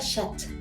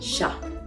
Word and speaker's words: chat: Porque el francés está lleno de excepciones, las finales, las letras finales de una palabra no se pronuncian en francés la mayoría del tiempo. Exemple, chat. Je dis pas chat, je dis chat.